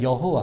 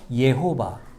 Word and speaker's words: 여호와: 예호 아이 이렇게 얘기합니다 그래서 그걸 붙여서 우리가 원래 여호와 혹는 예호바 야회 이렇게 말하기도 해요 발음이 여러 가지로 등장하지만 우리가 그렇게 하나님의